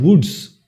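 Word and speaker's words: wootz: So the English were not able to pronounce it properly and they would call it as a word, anglicized word, and that is called woods. W-O-O-T-Z.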